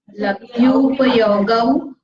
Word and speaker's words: लब्ध्युपयोगौ: लब्ध्युपयोगौ भावेन्द्रियम्, लब्ध्युपयोगौ, हाँ डबल औ है ना, औ बोलते हैं, इसमें यू का प्रोनाउंसिएशन होता है। लब्ध्युपयोगौ भावेन्द्रियम्, फिर से बोलेंगे, ये सिंपल उपयोग क्या हो गया, एक की मात्रा हुई। लब्ध्युपयोगौ ऐसा बोला तो 2 मात्रा हो गया ना, अपने को शुद्ध प्रोनाउंस करना है इसलिए।